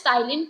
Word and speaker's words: ptyalin: It is spelling are like ptyalin, but it is known as ptyalin. P is silent.